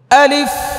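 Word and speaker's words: ألف: ফাটা দেখছেন নি কি করছি এটা করতে হবে আলিফ ফায়ের আওয়াজটাকে চালু রাখতে হবে।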